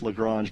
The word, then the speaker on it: Lagrange: where those asteroids are is it lagrange or lagrange i think depending upon what part of america or the part of the world you're from it could be a different different pronunciation you know daryl reminds me all the time it's lagrange but if you're from the south it's probably something else i don't know but